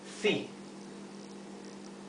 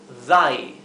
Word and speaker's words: thy: Sería thi. Sin embargo, si reemplazamos la I latina por una Y, esto se pronuncia thy. Thy. No es thi, es thy. Thy.